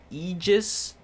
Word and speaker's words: Aegis: pronounced the item and I believe I just pronounced it wrong so maybe this is actually relevant I think I've been told that the correct way to say it is Aegis but we'll find out